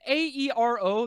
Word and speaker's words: Aero: Am I saying A-E-R-O? That's how you pronounce that.